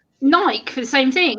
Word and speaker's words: Nike: Like Nike for the same thing. Like people say, oh, it's Nike. No, Nike.